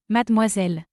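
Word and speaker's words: mademoiselle: respond her and say yes miss we madmoiselle we madmoiselle let's learn to pronounce this word mad m zel Madmoisel.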